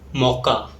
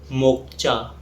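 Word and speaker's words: mocha: a fine quality coffee it is offer miss pronounced as मोचा और मोचा something like that the correct pronunciation is मोका और in American English it's called मोका and finally we have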